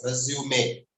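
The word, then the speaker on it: résumé: organization is a resume, and it's pronounced as resume. Resume is another English word. It's a verb meaning to restart an activity. Example, let's resume the class.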